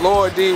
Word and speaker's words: Lil D: When we pronounce, we don't say little. You know what I mean? We say Lor D. Yeah. Even if it's spelled L-I-L, you don't say, what's up, Lor D? You ain't gonna say, what's up, little D?